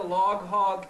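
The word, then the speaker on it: Log Hawg: Well, I would say anybody you wanna have a good time, head over to Log Hog TV on YouTube. Log Hog TV, and hog is spelled H-A-W-G, like hog.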